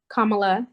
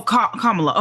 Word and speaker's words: Kamala: ex vice president Kamala I'm not sure how you say her name but kamla Harry oh Kamala okay I'm sorry kamla I'm going I